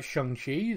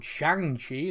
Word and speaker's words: Shang-Chi: to be talking about shanxi the film i called shanghi until i actually watched it um then next week